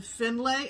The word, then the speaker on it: Findlay: uh our framer in finlay ohio well i'm saying it phonetically findlay because it's f-i-n-d-l-a-y in delay which is